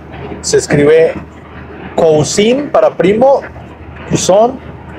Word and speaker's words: Cousin: se escribe cousin para primo, cousin, y se escribe cousine, cousine para prima, cousin, cousin, C-O-U-S-I-N, cousin, pero se pronuncia cousin.